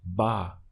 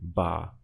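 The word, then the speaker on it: va: it going is simply ba obviously we spell it as ba ah but you never hear that in the spoken language they always contracted to bar so who is going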